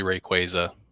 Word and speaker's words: Rayquaza: be real nice mega Rayquaza with Pikachu on it riding him it's actually Rayquaza um bunch of people that uh have been pronouncing it wrong this whole time where the hell Cobra